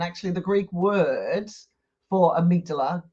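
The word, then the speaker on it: amygdala: what are they saying but it's actually the amigdala you know I did a YouTube video before where I pronounced it wrong the whole bloody video oh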